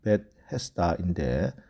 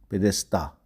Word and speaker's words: 베데스다: 원래 히브리어로는 베테스다인데 헬라식으로 발음한 것입니다.